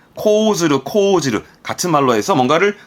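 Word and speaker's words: 講ずる: 보통은 코즈르를 많이 쓰는 편. 둘 다 씁니다. 코즈르, 코즈르.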